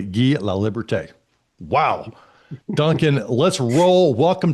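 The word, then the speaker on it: Guy Laliberté: him the first ex-performer in the seauite since Guy or I'll I'll pronounce it correctly. Gee La Liberte.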